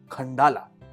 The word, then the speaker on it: Khandallah: दूर है bye metro और इसका नाम है खंडाला स्पेलिंग है कि एक है NDA लेज मगर उसकी